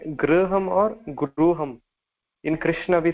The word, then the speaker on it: Krishna: In Krishna, we say Krishna. Kr or Kri. Oh, it is not kra or kri. It is kr, kr.